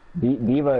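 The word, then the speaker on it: D.Va: But then Everything's yeah, then I just kind of fell in love with like just the way that Diva plays. It's spelled more than like anything.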